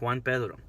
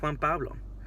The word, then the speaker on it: Juan Pedro: No, it's Juan Pedro. That's my name. Yeah. Just say my name. It's not that hard. Juan Pedro. It's just one more syllable.